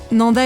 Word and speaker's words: Nendaz: et vezona au fait Nanda et Vona ça s'écrit avec un Z à la fin mais on ne le prononce pas c'est comme ça ici